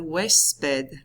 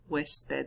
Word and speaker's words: huésped: El huésped. Repitan, el huésped. Wes, as in like Wesley, like the beginning of that, and then ped, huésped, huésped.